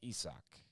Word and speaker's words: Isaac Paredes: Or it's Isak, I believe. Not Isaac, it's Isak.